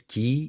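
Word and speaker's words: 기: energy I don't know okay so it's pronounced as ki in Korean and chi in Chinese and okay Please excuse me.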